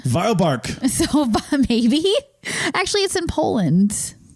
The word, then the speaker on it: Wielbark: this would be the willark culture or wildark where are they from they are it's it's a German Town V bark so maybe actually in